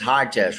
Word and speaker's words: Hitesh: And it's Hitesh, right? Hitesh. I Hitesh. knew it. I fucking knew it.